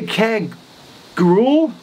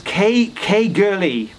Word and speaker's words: Caergwrle: But then I went to, see, looking at it, I would say Caergrawle. Phonetically, David tells me that it's Caergurley.